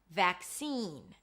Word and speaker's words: vaccine: To pronounce vaccine, you start with a V sound, then the as in cat, vac, a k sound, and then seen as I've seen you before. Seen, a high E, vaccine.